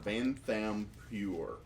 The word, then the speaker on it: Vanthampur: Vanthampur. How'd you spell it? Van, V-A-N, like the truck, or van. It's like T-H-A-M like Mike, P-U-R. Vanthampur.